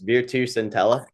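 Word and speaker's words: Virtus Entella: Um going back into that Italy career as well, you spent six years at Please let me know if I butchered this, Veru Sintella.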